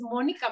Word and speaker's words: Mónica: Y bueno, mi nombre de pila es Mónica, justamente con acento en la O, pero por una u